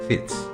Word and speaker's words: Fitz: From the Latin filius derives the French word fils, and the Norman pronunciation for this word is Fitz.